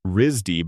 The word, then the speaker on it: RISD: RISD, pronounced Risdy by everyone who has been there, is not the kind of school where coasting is possible.